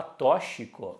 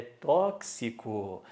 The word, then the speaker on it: tóxico: 5 fonemas e ao cuidado com essa pronúncia aqui em a muita gente boa que fala tóxico não existe é tóxico Então vamos lá seis